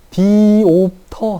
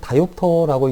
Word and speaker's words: diopter: 디옵터 하니까 그냥 디옵터로 모두 다 명명하고 사용하고 있지만, 사실 여러분들도 뭐 써있는 책에서는 뭐 디옵터라고 쓸 수 있지만 이걸 읽을 때는 다이옵터라고 읽는 게 맞습니다.